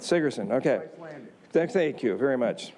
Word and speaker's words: Sigerson: Did I pronounce that right? That's correct. Sigerson, okay.